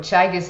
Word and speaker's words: Teagasc: Uh for for Tissuk, have I pronounced that correctly? Uh there's there's multiple pronunciations, Tom. H thanks a million for the invite. But Chagus is how I pronounce it.